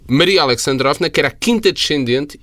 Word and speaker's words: Alexandrovna: Alexa tem uma pronúncia inglesa, desculpa lá, é Alexandra Novna. Não, Alexandrovna é a filha do Alexander.